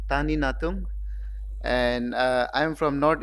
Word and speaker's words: Tanie Natung: uh trifocal iuls uh my name is pronounce as Dr Tani Tani natum and uh I from